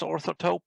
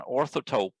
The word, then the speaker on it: Orthotope: that i wrote called taupe i think it's pronounced orthotope i don't know i've never heard anyone say